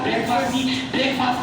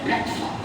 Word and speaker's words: ब्रेकफास्ट: अम्मी नाश्ता पकाती है, ब्रेकफास्ट की प्रोनाउंसिएशन सीख लो आज के बाद, ब्रेकफास्ट नहीं बोलना, असल में ये वर्ड है ब्रेकफास्ट।